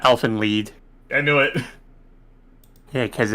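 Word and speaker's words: Elfen Lied: anime elephant live theme i've never seen elven lied i'm probably saying it wrong too now that i think about it it's uh elfin lead i knew it yeah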